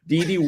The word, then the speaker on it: Dede: I'm not he runs DD Dede is spelled d-e-d-e for all of you